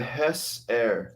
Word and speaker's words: Hessaire: Yeah, it's a Hess Air. So it's spelled HESSAIRE.